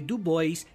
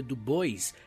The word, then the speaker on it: Du Bois: Du Bois e muitos outros. E provavelmente eu tô pronunciando alguns nomes errados, né? Tipo o próprio W.E. Du Bois deve ser Dubois.